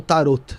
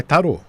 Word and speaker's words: tarô: Só uma pergunta, é tarô ou tarot? Tarot. É tarô. Tarô, T-A-R-O.